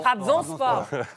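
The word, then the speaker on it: Trabzonspor: club ne me Chariez pas si je le prononce mal TRABON sport TRABON sport Trabzon sport ça va les gars je suis pas tu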